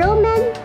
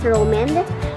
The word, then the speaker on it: Romand: So, I think ang pronunciation is Roman. Kasi nga, ang logo niya ay N.